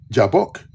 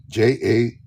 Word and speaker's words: Jabbok: Now, you notice what river? Jabbok. Jabboq in Hebrew. A K in the Bible.